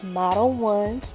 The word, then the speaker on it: Model Ones: So first I'm going to go in with my dehydrator, and I learned how to pronounce the name. It's Model Ones, so forgive me for butchering it on the last video.